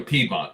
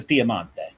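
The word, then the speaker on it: Piemonte: And then when you go south from there, you go into the Piamante. Yes. Or as we say in English, the Piedmont. The Pedmont, right? But it's the Piamante.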